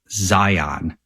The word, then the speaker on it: Zion: Here, it's a little different because I'm right outside Zion National Park. And by the way, the locals have taught me it's not Zion, it's Zion.